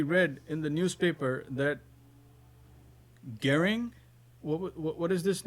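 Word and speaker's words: Göring: in the newspaper that gearing what what is this name arun prabhu hitler's air general g o e g-o-e-r-i-n-g yeah you said it right okay hitler's heir general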